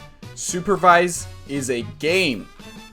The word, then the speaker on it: Supervive: So every time you hear me say Supervive, I actually mean Supervive.